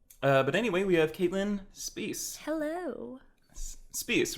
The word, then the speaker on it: Spiess: I remember even when we worked together, I was like, "What's up, Spice?" Yeah, Sorry, like, and I was it's just Spiess.